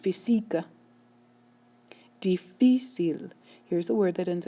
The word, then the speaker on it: difícil: Difícil. How do I know the stress is moved over? Because that's how native speakers pronounce. When a native speaker says the word, they say difícil. They do not say difícil.